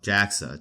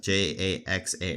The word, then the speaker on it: JAXA: And the Japan Aerospace Exploration Agency, called JAXA, JAXA. That's apparently their official acronym.